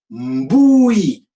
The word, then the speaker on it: mbui: se pose on va dire bouille bouille ça veut dire tout est illuminé oui ça s'écrit mbui et tu vas tout